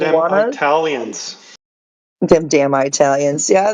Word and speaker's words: Juana: Juana.